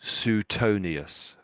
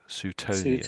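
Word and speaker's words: Suetonius: So Sutonius. Sutonius. Sutonius. That's how it's said basically. Um I don't I don't I don't know if he mentions Oh don't I mention that for here we go. So Sutonius synonymous were there anything that you noticed you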